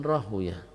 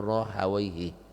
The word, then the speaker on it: Rahawayh: Ya, Syekh Al-Badr mengatakan wahum Ishaq bin Rahuyah, di antaranya adalah Ishaq ibn Rahuyah, itu Ishaq ibn Ibrahim ibn Makhlad Al-Hanzali Al-Khurasani, dikenal dengan Ibnu Rahuyah, atau orang Nahu menyebutnya Ibnu Rahawayhi. Ya, orang nahu membacanya rahawaihi.